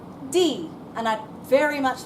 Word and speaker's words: die: Even though in English it looks like the word die, in German it's die. And I'd very much like you please to pronounce it as die.